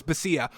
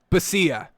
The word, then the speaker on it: Bisaccia: Rich Bisaccia. I think it's Rich Basia? Bisaccia? We'll definitely get it down. We'll go with Rich Bisaccia. I think it's Bisaccia.